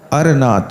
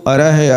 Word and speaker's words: अरनाथ: अर के आगे विसर्ग रहता है, इसलिए उस विसर्ग का उच्चारण कंठ स्थानीय होता हा जैसा होता हा, इसलिए उसको अरह अरह कहते हैं। अरह नाम नहीं है उनका, नाम अरनाथ है।